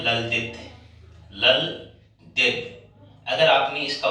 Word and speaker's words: ललद्यद: ये नाम है ललदित। ललदित। अगर आपने इसका उच्चारण ऐसे ही मन किया है तो इसका सीधा सा अर्थ है कि आपको ये पढ़ना आ गया।